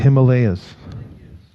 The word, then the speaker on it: Himalaya: No, but Himalayas.